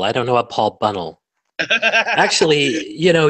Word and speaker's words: Bunnell: don't know what Paul Bunnell actually you know you pronounce my name Paul Bunnell if you want to get it right okay sure Paul but